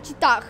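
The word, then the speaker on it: cheetah: За читах. Ну чита это он читается х на конце никогда не читается. Читается чита.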